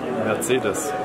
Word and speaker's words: Mercedes: But the real pronunciation is... Mercedes.